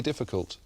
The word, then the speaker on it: difficult: This is really difficult. This is really difficult. So when you put it together, you want to stress that it's really and difficult. So the stress is on the ri and the di.